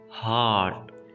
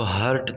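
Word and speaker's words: heart: लांग अ ए दिल हॉट हॉट students आपने इसको हर्ट नहीं पढ़ना और हार्ड भी नहीं पढ़ना इसको आपने तोड़ सके इंच करना है और आपने और को भी साइलेंट रखना है हॉट हॉट का दिमाग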